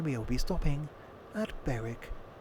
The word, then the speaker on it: Berwick: will be stopping at Beric upon Tweed not pronounced Berwick no no Beric or if we draw